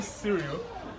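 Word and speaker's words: Cyril: Okay, so it's actually cereal, but it's not the cereal you eat. So that's why I don't like when you call it. Because if they say cereal, they'll think it's the normal cereal like this. The one you eat like golden milk cornflakes, but I'm not edible, right? Yeah, so, but it's the same pronunciation.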